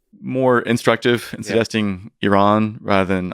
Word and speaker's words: Iran: suggesting Iran rather than Iran, right?